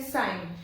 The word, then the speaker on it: sign: We don't have to pronounce the sound of G. We have to say sign.